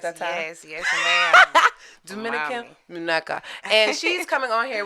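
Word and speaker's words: Dominican Muñeca: Dominican Muneca. Did I say it right that time? Yes, ma'am. Dominican Muneca.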